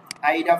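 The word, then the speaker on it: AIDA: একটা মডেল হলো আপনার এইটাকে আমরা বলে থাকি আইডা ফানেল অথবা এইডা ফানেল যেভাবে উচ্চারণ করে আর কি এ আই ডি এ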